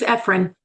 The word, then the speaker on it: Ephraim: Correct me if I'm wrong. They use Ephraim. Sorry, say that? It's Ephraim. Ephraim, okay. There we go.